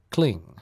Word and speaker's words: kling: There is a distinct G sound at the end of the word kling. Kling, creation kling, kling, creation kling.